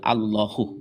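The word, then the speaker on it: الله: Pelafalan itu kaidahnya harus dibaca tebal, Allahu gitu ya. Gak bisa dibaca yang lain.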